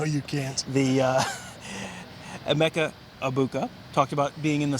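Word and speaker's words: Egbuka: abuka yes it is abuka the g is silent i asked someone um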